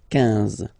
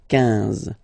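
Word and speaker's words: quinze: Same thing here, U doesn't exist, so 15, 15, 15, all right? IN, nasal, so it's 1, 1, 15, 15.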